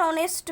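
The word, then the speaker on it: honest: ठीक है, यहाँ पे एच तो रखना ही है, लेकिन मैंने फ़िलहाल ऐसे क्यों कर दिया है, क्योंकि हमको ठीक है ऑनेस्ट एच जो है ना वो साइलेंट है.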